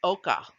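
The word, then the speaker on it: ochre: that you see here to the right is pronounced oka and oka is just highly pigmented dirt it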